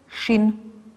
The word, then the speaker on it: shin: you wrote the letter shin the letter shin sometimes you write it with a dot on the right hand side then it's shin and you pronounce it sh but sometimes you write